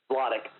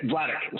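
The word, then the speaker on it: Vladeck: Stephen um damn it I'm gonna say his name wrong how do you say his name again vadic yeah vadic sorry I said earlier that sounds very um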